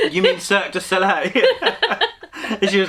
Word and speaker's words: Cirque du Soleil: morning i'll send you the link to the circuit and i was like you mean cirque du soleil she was like oh is that how you